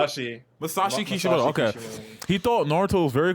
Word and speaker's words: Masashi Kishimoto: Masashi Okay. Kishimoto.